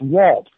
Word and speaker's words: Walt: say Walt and uh so I went on a wall with big chalk and put down j u a l t and looked at him and said it's Walt it's like one got it j u n one j u a l t w and then could say my name and I kept it